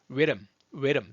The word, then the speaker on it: Rhythm: Rhythm 이거 어려워요. 앞에 우 하듯이 하면서 Rhythm. 리듬 우리가 말하는 리듬이에요. 리듬인데 Rhythm. 자, 보세요.